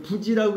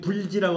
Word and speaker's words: 부지: 이게 부지라고 읽으셔야지 불지라고 하면 안 돼요.